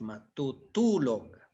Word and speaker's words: matutulog: Yes, matutulog. All right. The accent is on the last, the second to the last.